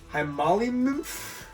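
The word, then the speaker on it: hemolymph: fluid the fluid has a name and it's pronounced High Molly Moose it's for blood female limb I got that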